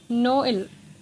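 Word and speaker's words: Noël: जैसे अब ये नोएल लिखा है तो हम इसको एक साथ नोल नहीं बोल सकते, ये इसकी गलत प्रोनाउंसिएशन होगी, हमें इसको स्प्लिट करके बोलना होगा, नोएल।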